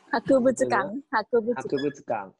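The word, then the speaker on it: 博物館: Hakubutsu cảng. Đúng không? Thì chính là chữ bác này. Và từ đầu tiên chính là từ vựng đó. Chữ bác, chữ vật và chữ quán đọc là Hakubutsu cảng.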